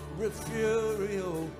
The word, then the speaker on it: Refugio: Pronounce it Refugio.